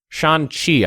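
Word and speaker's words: Shanxi: Shan Z Shan Shan Shan chi I think it is I I always pronounce the the X like a z but I think it's more pronounced like a CH and artillery strength so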